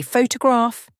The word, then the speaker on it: photograph: example if you say photograph you stress the first syllable pH H to graph